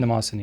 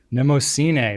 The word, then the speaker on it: Nemosine: It wasn't Nemosini. It was you asked Nemosine. Nemosine. There we go.